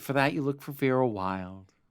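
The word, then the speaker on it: Wylde: And for that, you look for Vera Wild. Wild is spelled W-Y-L-D-E.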